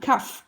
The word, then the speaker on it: cough: Alors lui, la prononciation n'est pas du tout en adéquation avec l'écriture et l'orthographe. Donc regardez bien, cough, cough, cough. Ça se prononce avec un F. Donc comme d'autres mots, tough, qui veut dire dur, ou enough, assez.